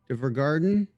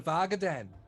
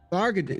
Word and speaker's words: Vargaden: We're trying to get over to Vergarden. Or that's what it says on the map. I don't know how to say it. You're going to Vargaden. Vargaden, yeah, that's it.